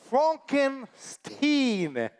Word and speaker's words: Frankenstein: That's a Frankenstein. My name is pronounced Frankenstein. Ah, yes, of course.